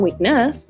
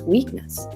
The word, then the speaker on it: weakness: Oh, okay, so the stress is on the first syllable. It's not weakness, it's weakness.